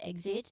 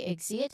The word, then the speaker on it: exit: It's the K sound followed by the S sound, exit. It's a quick, sharp transition, basically.